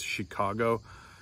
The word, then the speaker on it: Chicago: to the rule too, like for instance, Chicago or chic. You know, we don't pronounce that like a ch sound, like most words in English.